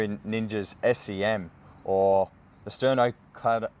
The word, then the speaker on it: sternocleidomastoid: So I'm starting here in Ninja's SEM, or the sternocleidomastoid.